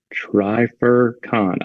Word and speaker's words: Trifurcon: It says try, pronounced like try. Fur, pronounced like the fur on an animal. Con, pronounced like con in connector. There you go. Trifurcon.